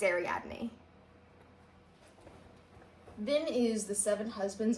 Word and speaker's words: Ariadne: I'm like a Greek mythology nerd, and I've heard it pronounced right, but for some reason in my head, it always goes to like Ariadne, and I know that's not right. Ariadne! It's Ariadne.